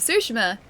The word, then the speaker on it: Tsushima: Ghost of Tsushima. That's the one. So there's a T there too, but I don't really pronounce the T.